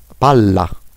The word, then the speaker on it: palla: Ensuite puis ensuite deè remarque en italien les doubles consonnes prononce plus fort. Le doppie consonanti si pronunciano più forte. Esemple, sete sette. Swaf set. Sete 7. Pala. Palla pala pala le ballon.